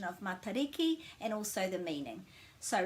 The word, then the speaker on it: Matariki: It's not matter because this has to have a break after it to make it ma, and the a is always pronounced that way. Matariki. And remember that this T with an A following it has got a flat sound.